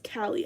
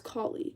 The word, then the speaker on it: Kali: But I thought her name was Callie. I didn't know it was Collie. But apparently it's Collie.